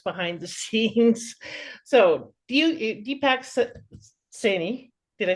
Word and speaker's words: Saini: So, Deepak Saini, did I say it right? Saini, yeah.